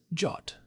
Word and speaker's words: JWT: all that is holy, pronounce JWT as "jot".